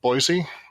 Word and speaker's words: Boise: And I also think that the Boise, is that pronounced correctly?